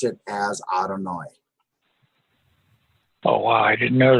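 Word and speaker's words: אדני: Yeah, but it's always pronounced Adonai because Mhm.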